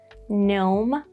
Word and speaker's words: gnome: And then some G at the start of words, like in gnome, nard, and gnarly, the synonym of nard.